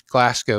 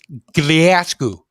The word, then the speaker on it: Glasgow: uh I said uh how how do you pronounce Glasco and he said you should say gasu gasu and I I tried and I couldn't get it I kept saying Glasco Glasco but he said it differently and I just never